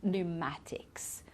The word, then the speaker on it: pneumatics: And here we say pneumonia, so we don't pronounce the P, and pneumatics.